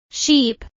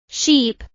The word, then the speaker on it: sheep: The vowel sound in ship is a short sound, while the vowel in sheep is a long I sound. Let us practice these sounds again. Ship, sheep.